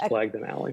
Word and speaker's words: Blagden Alley: And I want to talk about several I want to talk about, but is it Blagden Alley? Is that how you pronounce it? That's how that is. It's Blagden Alley.